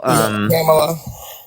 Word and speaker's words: Kamala: Kamala Yeah, Harris, thank you so much for the Joe $15. Biden. Thank you so much. I appreciate it. Thank you. Kamala? Well, Kamala.